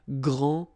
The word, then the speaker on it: grand: you don't pronounce the final D, you don't, the D here, and you don't pronounce the final S. Okay, so grand, and then same thing here, grand.